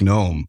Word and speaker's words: GNOME: that yeah and say if you're talking about gnome the project use a g I mean some people